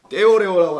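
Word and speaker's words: θεωρέω: 떼오레오라고 하는데 떼오레오 일단 이렇게 발음해서 써봅니다.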